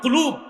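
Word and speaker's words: قلب: হ্যাঁ না, অনেক উচ্চারণ করতে পারে না, বলে কালব। কালব মানে কুত্তা, এটা হবে কল।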